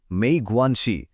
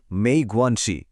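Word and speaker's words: 没关系: তখন বলতে হবে মেই গোয়ানসি। উচ্চারণ মেই গোয়ানসি।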